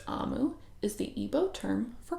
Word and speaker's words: Omu: There's an important note for us here before we start the story that says, note to the reader, Amu, pronounced Amu, is the Igbo term for queen.